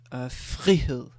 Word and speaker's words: frihed: But with the FR, it's more like fri, fri, where you have a bit of a sounding F alone, like f.